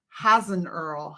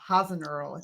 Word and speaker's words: Hasenöhrl: your last name is has an earl hasn't earl did i pronounce it right yeah okay right you're the